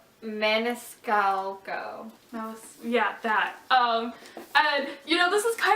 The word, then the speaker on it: Maniscalco: How do you pronounce her last name? Maniscalco.